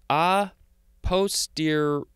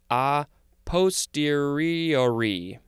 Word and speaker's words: a posteriori: It is, oh, there's a couple of ways to pronounce this. It is A posteriori. I think this is, it looks Italian to me. It says it's Latin. How do you say this word? A posteriori.